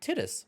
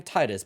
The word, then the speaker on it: Tidus: call him but I found out it's actually tittis and I don't like that because it sounds close to something else I'm GNA keep calling him Titus but apparently that's not how you officially say his name yuna's Guardian he's going